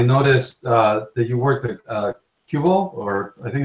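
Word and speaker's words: Qubole: So you said you worked at companies here in the Valley, and I noticed that you worked at Cubal, or I think it's pronounced Cubal. Yeah, Cubal, that's right.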